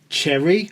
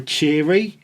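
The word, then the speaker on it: Chery: They've just got a Cherry or a Cherry. It's spelled C H E R Y.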